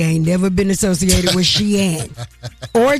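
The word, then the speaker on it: Shein: Shane Sheen as it is pronounced announces price adjustment amid tariff changes.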